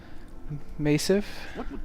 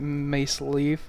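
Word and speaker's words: Masyaf: So we'll just go ahead and head out of Massif, as I think they keep calling it in the game, as I'm not, since I've been horribly pronouncing it Mace Leaf or whatever.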